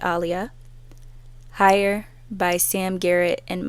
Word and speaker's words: Aaliyah: Sol, Resolution by Alia, also known as Aaliyah, but she pronounced it Alia, Higher by Sam Garrett and Mose.